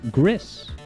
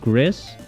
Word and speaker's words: Gris: Is that I'm streaming the game Gris. Okay? But I learned that, actually, I've always pronounced it Gris, but I think it's developed in Spain, and that is the Spanish word for gray.